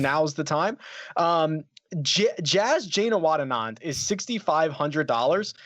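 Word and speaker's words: Janewattananond: behind it and now is the time jazz jayna watt Anand is sixty five hundred dollars that was a correct correct pronunciation of that and he is the 39th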